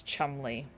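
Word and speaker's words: Cholmondeley: not have thought that the way to pronounce that is Chumley I'm going to be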